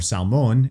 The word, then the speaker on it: Salmon: means is that perhaps salmon was or salmon if you're doing Hebrew pronunciation perhaps he was one